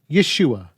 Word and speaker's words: Yeshua: to complete the contraction by taking out the syllable ho and Contracting what's left we get Yeshua yud Sheen VAV aim